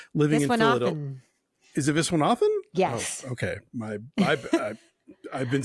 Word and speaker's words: Viswanathan: Is it Viswanathan?